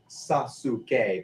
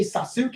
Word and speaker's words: Sasuke: there's a character on Naruto named Sasuke, but we don't say hey Sasuke, it's Sasuke. Yeah.